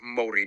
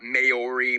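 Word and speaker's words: Māori: Yes, by the way it's pronounced Mori, not Mayori Maui.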